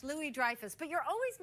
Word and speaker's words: Louis-Dreyfus: well there ya know it's actually French Louie Dreyfus but you're always mispronouncing